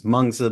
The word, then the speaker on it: Mengzi: are may not know there are multiple ways of pronouncing M's sort of referring to the philosopher MSA or menes one of them is to refer to him as menes the other one is mza mza tracks with the modern Mandarin pronunciation of the Chinese characters that have long been